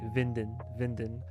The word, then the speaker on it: Winden: Also in German, the W is pronounced V, right? Winden.